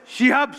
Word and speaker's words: শিহাব: myself Rihab Shahin থিয়েটারটা ঠিকমত করেন না বলেই উচ্চারণে সমস্যা এটা রিহাব শাহিন না এটা হবে শিহাব শাহিন আমি একচুি রিহাব শাহিন